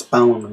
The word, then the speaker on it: Balan: get it right but it's bow and wonder world not one saying it wrong for months but whatever so anyway